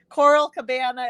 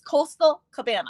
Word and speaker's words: Coastal Cabana: branch tropical something greenery coral cabana it's it's the double seas it gets to me i don't know just don't ever say it right so just know it's coastal cabana i will say it